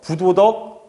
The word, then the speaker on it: 부도덕: 참고로 이 불자라는 것은 뒤에 디귿이나 지읒이 오면은 그러면 부로 발음이 됩니다. 그래서 부도덕, 부자요, 불확실, 불명하.